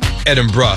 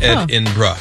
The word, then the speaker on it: Edinburgh: concert in Edinburgh no edinb anyway Saturday night she was playing in edinb BR and is that how you say it or you being like a genzer oh says pronounced Ed inra oh okay con was